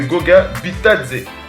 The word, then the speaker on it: Goga Bitadze: Les Pacers qui ont choisi, tu l'as dit, comment on prononce ça? C'est Goga Bitadze.